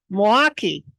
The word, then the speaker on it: Milwaukee: I'm trying to say it like rather than Milwaukee. Yes, if you'd like to sound like us, you say Milwaukee. Milwaukee.